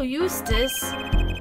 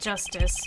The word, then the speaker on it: Justice: be rough buddy wha-wha a bolo Eustis that's justice better learn how to say it if you ever want